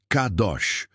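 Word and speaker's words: קדוש: No original hebraico, a raiz dessa palavra é kadash, da qual vem kadosh, e a pronúncia que usaremos é kadosh.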